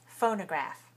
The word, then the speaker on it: phonograph: okay here's another word phonograph phonograph how many syllables are there phonographs three right where's the stress phonograph first first right phonograph so do we